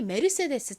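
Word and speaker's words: Mercedes: 이름이라고 합니다 스페인 이름 스페인어를 읽는 방식을 으로 읽으면 이게 세스가 아니라 거의 메르세데스 럼 요렇게 발음이나요 혹시 궁금해하실 분들을 위해이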